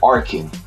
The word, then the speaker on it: Arkin: alan corrin oh well let me say his name properly i don't want to mess up is arkhan arkin and i'm going to